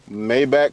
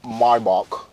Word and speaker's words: Maybach: fruition it's my very own podcast it's called mayback conversations but it's really pronounced mybach all right for everyone who really want to